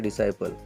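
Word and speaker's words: disciple: यहाँ पे डिसाइपल, क्योंकि यस के बाद में सी आया तो इस सी को बिल्कुल ही प्रोनाउंस करना नहीं, इस सी को बिल्कुल प्रोनाउंस करना नहीं। डिसाइपल, इसका प्रोनाउंसिएशन होता है डिसाइपल।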